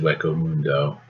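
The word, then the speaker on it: Hueco Mundo: fun Naruto this is from Bleach this is pronounced wo Mundo if anybody's wondering Sky Sanctuary that's Sonic and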